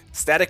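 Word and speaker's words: Stat!c: Let's go Static with the exclamation point for the I. Static with the exclamation point for the I, which is how his name is pronounced.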